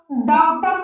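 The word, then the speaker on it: daughter: ए यू का जो उच्चारण है वह आ की तरह होता है ना कि ओ की तरह।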